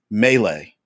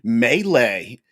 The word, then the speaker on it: melee: Um, but anyway, since we are is it melee? Melee. What is it? My man Dave Frant from Nerdarchy always says it Malay. Malay. That's it, Malay. Because he's like, it's spelled Malay. It's pronounced Malay.